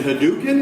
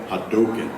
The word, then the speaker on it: Hadouken: He's like, is it Hadouken? It's like, no, Hadouken.